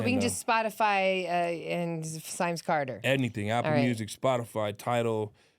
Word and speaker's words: Simes Carter: Symes Carter on Spotify, YouTube. Symes rhymes with rhymes. He puts a Y in it. Or dimes or limes or whatever. So it looks just the way it says.